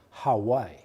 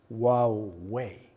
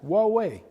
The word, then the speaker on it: Huawei: of our company properly some people call us hawaii this is lovely but that's kind of an island we are pronounced wow way as easy as that huawei okay you cannot say